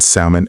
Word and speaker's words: salmon: The L in salmon and walk is silent.